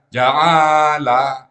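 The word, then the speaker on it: جعل: Kalau dibacanya ja'ala, ainnya yang panjang. Kemana pula pengaruhnya tuh? Ja'ala, A-nya yang panjang polanya. Fa'ala. Ja'ala, A yang panjang ya.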